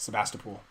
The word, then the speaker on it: Sebastopol: corner of todd and and that's how it's pronounced sebastopol not sebastian no it's mastical is that somewhere